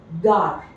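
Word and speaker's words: gare: Okay, moving forward, the second consonant, which is a bit different than that in English, when G combines with A, O or U, it is pronounced as G in go.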